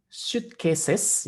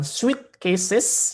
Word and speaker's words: suitcases: Ya, ini membacanya adalah suitcases, ya, bukan sweet cases, ya. Kalau sweet cases nanti kasus yang manis, ya, di situ.